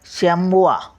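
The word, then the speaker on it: chamois: रू कांगारू म्हणजे कांगारू शमवा म्हणजे sambar C एच ए सी एच ए एम ओ आय एस सी एच ए एम ए आय एस शामवा म्हणजे सांबर अँलो म्हणजे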